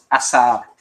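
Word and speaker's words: עשר: Asar.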